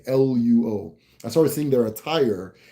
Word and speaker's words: Luo: like old Acholi and Lao. Why am I not saying this right? I know how to say it, it's just not coming to me. Luo.